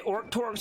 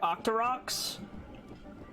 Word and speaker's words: Octorok: Are they Orc Torcs or Octoroks? I believe the correct pronunciation is Octorok, but I've just picked up Orc Torc from my mother, I think. And it's just my habit to say Orc Torc.